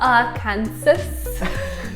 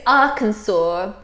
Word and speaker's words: Arkansas: learning curve yeah here's one that I've heard pronounced incorrectly many times in the UK sometimes by myself not a Kansas I think we should go to a clip